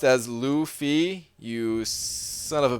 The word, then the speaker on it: Luffy: It's pronounced as Luffy, you son of a B Manny.